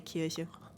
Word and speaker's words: Kirche: would be pronounced like Kirche, so a very pronounced E, whereas I just say Kirche. Like, it's very relaxed at the back of the throat.